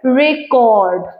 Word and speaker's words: record: বাট when it is used as a verb, the stress shift to the second syllable, record.